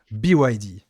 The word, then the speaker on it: BYD: Alors, je vous Prononce à laisse l'anglaise, BYD. BYD.